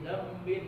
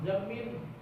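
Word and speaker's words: ذنب: Tapi bilangnya batajwid min kulli dzambin azim, zambin. Jangan zamin. Jambin. Zambin. Jambin. Kayak Nah, biar anak-anak cari tulisannya di internet, ke tulis ada aja itu tuh. Google pintar aja, astagfirullahaladzim min kulli dzambin azim la yaghfiru dzunuba illa rabbul alamin.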